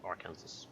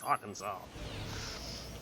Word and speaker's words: Arkansas: as i call it arkansas because it's it's kansas at the end it's kansas and they're like no it's arkansas apparently it's something to do with the french oh hello was the